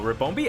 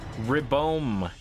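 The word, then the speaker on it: Ribombee: Rabombi. That's not quite how it's spelled. Whoa. Hold up. High horsepower did a lot there. There it is. You can see it there. Ribomb B. R I B O M B E. Ribomb. Yes.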